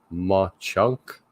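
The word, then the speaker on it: Mauch Chunk: of the Poconos okay how do you pronounce that Ma chunk ma chunk watch chunk Sean Connery Sean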